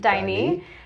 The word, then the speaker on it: Daini: I loved the part where you talked about at Daini, did I pronounce that right? Daini.